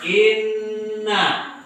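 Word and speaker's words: إنّا: Ya, ini tanda baca tasdid dibaca double inna ya. Ini dia. Inna. Dibaca nunnya dibaca 2 kali. In dengan na.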